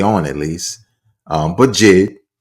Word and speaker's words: JID: That's how you pronounce it, Jid. But sometimes I saw it as J early on at least. Um, but Jid, right?